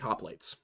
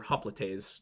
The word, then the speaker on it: hoplites: Because if you look at, for example, Greek hoplites, or hoplites, to use the actual correct pronunciation before somebody gets on my case, they would stack their shields across each other.